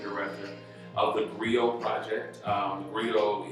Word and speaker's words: griot: of the griot project rio is spelled g-r-i-o-t and we are an